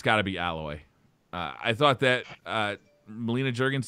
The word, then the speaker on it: Aloy: It was just, this is Alloy. She nailed it. Oh. I would agree to piggyback what you said, Briar. Hands down, it's, I pronounce it Aloy.